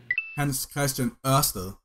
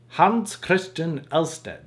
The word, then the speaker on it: Hans Christian Ørsted: What's the proper pronunciation? Hans Christian Ørsted. Hans Christian Ørsted.